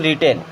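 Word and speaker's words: written: then it has been रिटन रिटन अब रिटन में में यहां प डब्लू साइलेंट होता है ठीक है इट हैज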